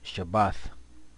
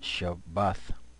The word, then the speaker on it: Shabbath: So the Sabbath, what you see here is Shabbath, and that's how you pronounce it, Shabbath, is a day of rest given to us by the Most High.